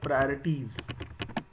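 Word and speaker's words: priorities: और इन दोनों में प्रोनाउंसिएशन का बड़ा खेल है। एक वर्ड है प्रायोरिटाइज और एक वर्ड है प्रियोरिटीज। तो दोनों के प्रोनाउंसिएशन की आप प्रॉपर प्रैक्टिस करिएगा। This is प्रायोरिटीज and this is प्रायोरिटाइज।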